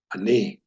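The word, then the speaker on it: אני: That won't make much sense to you until we get to our Complex Vowels lesson, but it wouldn't be pronounced NE-da. It's Ne-DAH. Na-EH, Na-EH Ah-NEE, Ah-NEE.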